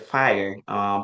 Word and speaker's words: FHIR: And you mentioned FIRE. For the audience, FIRE is FHIR. That's how it's spelled, but it's just an extension of what you call HL7, which deals with interoperability.